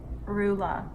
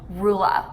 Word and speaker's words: Rula: English how do people butcher it tell me rulla rulla yeah yeah that sucks I thought mine